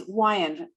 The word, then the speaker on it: Weyand: Actually, it's Weyand. It's kind of like Hawaiian.